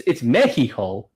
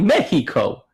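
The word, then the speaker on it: México: So I would have said we go into Meheeho, but it's Meheeho. But I would have thought it's still a C. I would have thought it Mexico. I thought it felt a hard C.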